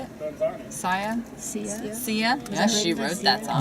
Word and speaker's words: Sia: by sia is that how you say it see ya yes she wrote that song yeah but it